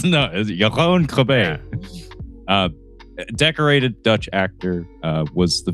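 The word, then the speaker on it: Jeroen Krabbé: I'm going to try to pronounce this correctly because I actually have heard this man's name spoken aloud at the dinner table. It's Jeroen Krabbe. That's how it's said.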